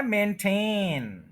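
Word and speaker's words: maintain: लेकिन एक वर्ड है मेंटेन इसका जरा गौर करें इसके फर्स्ट सिलेबल पर स्ट्रेस नहीं है मेन इसको ज्यादा स्ट्रेस नहीं करना मेन लेकिन पूरा स्ट्रेस कर देना टेन जो मेन टेन है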